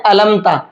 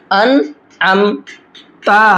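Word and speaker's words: أنعمت: वहाँ भी लोग गलत पढ़ते हैं, क्या पढ़ते हैं? अलमता, लाम के साथ पढ़ेंगे या तो, अगर नून के साथ में पढ़ेंगे तो अनमता पढ़ेंगे, हालांकि यहाँ पर आइन भी है। हिज्जे करके समझते हैं। हमज़ा नून ज़बर अन, आइन मीम ज़बर अम, अन अम, ता पेश तु, अन अम तु, ठीक है। आइन का साउंड भी आना चाहिए, अगर आइन का साउंड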